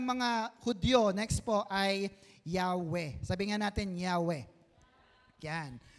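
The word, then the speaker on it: Yahweh: ang ginagamit na nila ang mas maganda ay yahwe sabihin mo nga yahwe yahwe yan it is the better pronunciation since Hebrew alphabet has no Letter J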